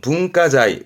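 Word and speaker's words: 文化財: 발음은 분가자이.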